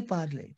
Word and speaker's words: parlez: Why parlez? Tell me. Because EZ sound is A in French.